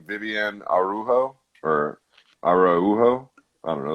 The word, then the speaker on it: Araujo: I think, oddly enough, hers is Araujo. But yeah, because they pronounce those J's like but whatever.